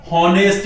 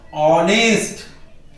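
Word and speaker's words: honest: कोशिश करेंगे भाई हम, हॉनेस्ट बॉय। अब देखिए, ह ये गलत है इसका उच्चारण, सही उच्चारण क्या होना चाहिए इसका, ये ह नहीं होता है, ये क्या होता है, ऑनेस्ट, ऑनेस्ट बॉय।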